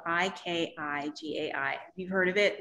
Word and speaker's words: ikigai: this word it's called icky guy and it's a really funny word it sounds it sounds like ooh is that guy icky no it's it's japanese and it's spelled i-k-i-g-a-i have you heard of